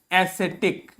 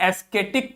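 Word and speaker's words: ascetic: है वो है एसिटिक ध्यान से देखिए इस शब्द को यह शब्द आपको दिखने में आप हो सकता है इसे एस्थेटिक पढ़ जाएं हो सकता है इसे आप एस्थेटिक पढ़ जाएं बट ये एस्थेटिक नहीं लिखा है ये क्या लिखा है एसिटिक क्या लिखा है एसिटिक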